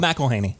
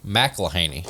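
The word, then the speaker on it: McElhenney: Oh, Rob McElhaney. McElhaney.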